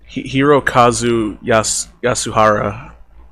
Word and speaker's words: Hirokazu Yasuhara: Hirokazu Yasuhara.